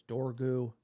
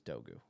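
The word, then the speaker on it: Dorgu: Just to set the record straight, it is Dogu, sir. Pronunciation police, sir. Uh, United, look it up. You can look at YouTube videos how to pronounce the name in Danish. It is Dogu.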